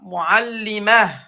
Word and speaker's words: معلمة: Ta, on va le prononcer comme ha. معلمة Voilà, muallimah.